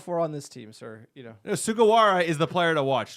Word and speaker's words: Sugawara: Shigara Wara, I think. Sorry, I can't pronounce that name, but he'll be trouble as well. Yukinari Sugawara.